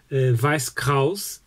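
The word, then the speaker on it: Weiß Kreuz: any manga series called vice cause i think it's the correct pronunciation of german pronunciation vice cause means white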